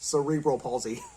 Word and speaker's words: cerebral palsy: So I just wanted to give this quick video today, kind of a fun topic, but the official pronunciation for cerebral palsy is cerebral palsy.